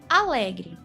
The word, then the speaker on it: alegre: Vamos chamar outra palavra, a palavra alegre. Alegre. A sílaba lé é a mais forte.